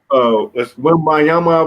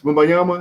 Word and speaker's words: Wembanyama: Well, you say, Drew, you got to pronounce the last name for me again, but Wembayama, I believe it is. Wembayama, is that right?